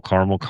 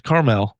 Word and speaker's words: Carmel: They'll call Carmel. It's like, yo, this isn't the West Coast. It's Carmel. It's Carmel.